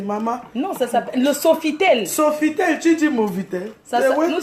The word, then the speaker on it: Sofitel: Nous sommes au Nouveau-Tel. Hein. Hein? Qui a dit nouveau? Oh. Non, Nouveautel. C'est pas Nouveautel. Qu'est-ce que tu racontes? Pardon, il faut bien prononcer, maman. Non, ça s'appelle le Sofitel.